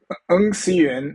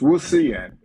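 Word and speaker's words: Ng Si Yuan: No, Eng Siyuan is the Ng. Cantonese, Eng Yeah. Siyuan, but in Mandarin it's Wu Siyuan.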